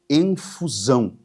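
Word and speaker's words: ἐμφυσάω: sobre os seus discípulos, é uma palavra grega que se pronuncia em fusão.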